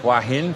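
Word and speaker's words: Hua Hin: living and huin yeah how do you pronounce it oh depends who I'm talking to why who generally it's hin for me um you can ask a local and you'll get two or three different variations so as long as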